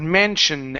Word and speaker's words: mansion: Um, next up is uh the word mansion. End on that N sound. Instead of mentioned with a D, leave your tongue at the top of your mouth before moving to the ooh.